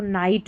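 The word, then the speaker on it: knight: जी H silent है तो नाइट में है।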